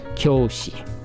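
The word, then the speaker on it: 教師: This is kyo. Okay? You've snapped the eye off the key. You just tore its eye off. Oh, and you just attached the yo, and now they're just a mutant kyo.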